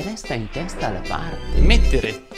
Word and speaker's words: mettere: Mettere. In questo verbo la E va sempre pronunciata chiusa.